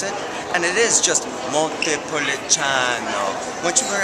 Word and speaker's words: Montepulciano: Once you learn how to pronounce it, and it is just Montepulciano, once you learn how to pronounce it, you feel like an insider in restaurants.